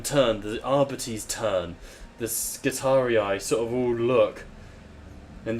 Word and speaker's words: Skitarii: No, Skitarii, because it's based off of the Roman, where you have the hard I and hard C. There's no such thing as a soft C in Roman, for example, so you don't